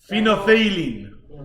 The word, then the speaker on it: phenolphthalein: Phenolphthalein is how you pronounce that.